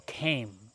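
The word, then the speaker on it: kame: And that's called a glacial ceme. And that's spelled K A M E.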